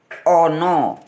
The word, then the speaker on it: ana: Ana Kalau bahasa indonesia Ana tulisannya Ana bacanya ono dialah yang sering diperdebatkan